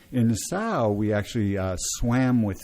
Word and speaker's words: Nassau: fun that's fun n i i pronounce that Nassau me too I've never heard it said that way okay you know no